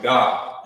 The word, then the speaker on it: Gad: name like this Gad but in the ancient Hebrew remember you will pronounce it you will pronounce it God in in the ancient